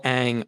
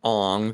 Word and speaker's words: Aang: the avatar the avatar they call aang ong they call saka soka